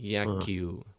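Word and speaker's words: 野球: Qual que é Então, a pronúncia em japonês? Como é que é? Repete aí. Yakyu, Yaki, Yakyu, é, Yakio. Ah, Yakyu.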